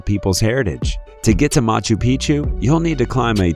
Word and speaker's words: Machu Picchu: Four, Machu Picchu, Peru. When a place rhymes with picture, you can almost bet it will always give breathtaking images every time.